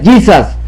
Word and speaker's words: Jesus: español esto es inglés se pronuncia gizas Esto no se pronuncia Jesús esto aquí es gizas giza no Jesús esto es inglés Esto